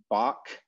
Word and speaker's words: Bach: american english is pronounced bach by just about everyone unless they're trying to sound fancy in which case they say bach and actually pronounce it with the velar fricative um so yeah i